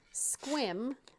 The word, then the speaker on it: Sequim: We have a Squim, but it's spelled like Sequim.